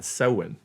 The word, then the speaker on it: Samhain: But they pronounced it S-O-W-N, Samhain.